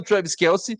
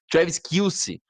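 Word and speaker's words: Travis Kelce: tava lá só pelo Travis Kelsey e eles sequer sabiam pronunciar o nome do Travis Kels. Tinha um cara tava chamando ele de Travis Kills.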